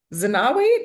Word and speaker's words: Zenawi: Zenawi, did I pronounce that correctly? Yes, thank you.